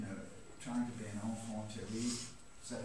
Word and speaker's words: enfant terrible: And I, being, you know, trying to be an enfant terrible, is that how you pronounce it?